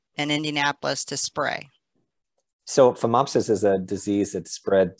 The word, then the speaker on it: Phomopsis: I'm not going to be able to say this word right, so I'll spell it, but our Norway spruce has P-H-O-M-O-P. Oh, phomopsis.